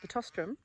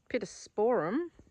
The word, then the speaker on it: Pittosporum: And the other thing I do have is Pitostrum, or some people pronounce it Pittosporum. Take your pick.